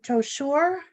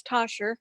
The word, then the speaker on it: Toshur: Member Toshur. Am I pronouncing your name right? No, it's Tosher.